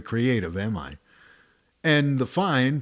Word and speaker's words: fine: the bird's eye and that's marked fine pronounced fine which means end the